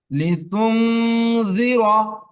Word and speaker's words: لتنذر: لتنذر নুনটা ক্লিয়ার হয়ে যায়, কারণ নুনটা হিডেন থাকবে ভাই। লিতুন জি আপনি ফলো করবেন জালকে, জিব্বা চলে যাবে জালের কাছে, জালের মাখরাজে, ঠিক আছে। লিতুন لتنذر এই পড়েন لتنذر قوما ما أنذر آباؤهم فهم